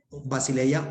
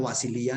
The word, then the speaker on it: basileia: el griego para reino, basileia o basilía, de acuerdo a la escuela de pronunciación del griego que utilicemos, pero ese término basileia se puede definir, claro que sí, el término como tal, ¿no?